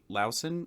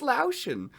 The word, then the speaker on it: Laotian: what did you say lowson I don't know how to pronounce it Laotian laoshin okay okay lauschen like lotion but with an owl got it like putting lotion on your owie it's Laotian oh man that's what